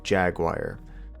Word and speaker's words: Jaguar: do you talk about I'd say it as Jaguar Jaguar Jaguar I would say Jaguar at least that's my American pronunciation be jagwire if I was to say how the English was well I mean I've